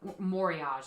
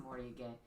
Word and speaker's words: Moriage: Moriage is how you're going to hear it. Yeah. Honestly, that's how people are going to refer to it, but it's pronounced Moriage.